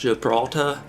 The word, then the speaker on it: Gibraltar: Okay, so the map that we got here, I believe is pronounced Gibraltar. I'm not 100% sure there. I think the R at the end is silent.